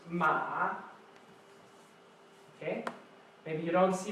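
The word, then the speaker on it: 马: Now this character means horse, and it's pronounced ma.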